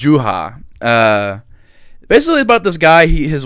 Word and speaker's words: Juha: I said Julia. His name is Julia. But it's Juha.